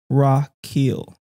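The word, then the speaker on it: רכיל: says Strong's 8 7 400 and he's is pronounced rakil Rock Hill so the root word it comes from um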